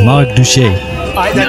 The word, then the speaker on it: Marc Duché: Saying my name is not that difficult, guys. It sounds a little bit French. It's Marc Duché.